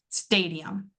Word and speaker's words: stadium: Right away, I can hear that I'm actually pronouncing my a sound and I'm making that very long and it's a little bit louder.